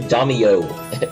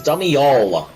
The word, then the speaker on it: Damial: my subscribers has constantly pronounced my name Damio. It's Damial. Damio sounds like some sort of gang member from the early 90s.